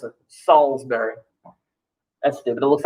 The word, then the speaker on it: Salisbury: but i went to salisbury that's how you pronounce it salisbury that's dude but it looks like salisbury yeah i know but it's salisbury what do you call the town that's a